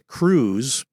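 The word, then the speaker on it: krewe: Um and but the crews, that's spelled k r e w e, carnival crew.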